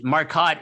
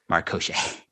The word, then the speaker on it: Marcotte: if you heard, John, he said that Marcotte is the French pronunciation. Yes, And I yes, this is breaking news. And I said that's the French Canadian pronunciation, but the French pronunciation is Marcochet.